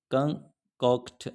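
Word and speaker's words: concoct: Claudius कंकॉर्ड्स, कंकॉर्ड्स का मतलब क्या होता है, कंकॉक्ट, सॉरी ये आपने वर्ड प्रोनाउंस करना है कंकॉकट, कंकॉकट इसको पढ़ना, कंकॉकट।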